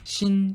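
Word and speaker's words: 辰: 글자의 밑부분 조개 농기구를 나타내는 신 또는 진으로 발음되는 글자입니다.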